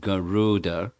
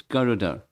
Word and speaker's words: Garuda: He used the word elongated vowel over Garuda. Everyone says Garuda. It's not Garuda. It's Garuda.